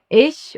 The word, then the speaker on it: ich: I is pronounced like E in German, like you would say in cheese. For example, in ich or immer.